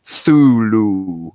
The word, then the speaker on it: Cthulhu: God, I read, I think it was in Necronomicon, the actual pronunciation of Thulu is like Thulu. Like it's really, Yeah, it's supposed to be like you're coughing.